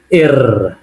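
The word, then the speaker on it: Р: রাশিয়ানে এটাকে আমরা বলবো এর। এর মানে অ্যাকচুয়ালি এই যে আর। ঠিক আছে, আর ইংলিশে আর, এটাকে আমরা বলবো রাশিয়ানে পি এর মতো দেখতে, এটাকে বলবো এর। এর উচ্চারণ হবে র এর মতো, যেমন রাশিয়া, রাশিয়া।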